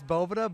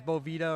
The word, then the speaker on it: Boveda: i saying it wrong is it boveda it's it is boveda but hey everyone says bovita or it's a bunch of different things so okay do with